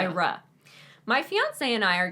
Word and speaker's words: Ira: Also, you didn't emphasize the ra. Ira, because that's in caps. Yeah. Ira.